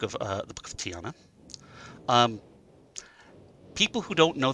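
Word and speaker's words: Ti'ana: respects to tiana um actually i think it's appropriately pronounced tiana uh the apostrophe is a glottal stop in that particular place and that's of course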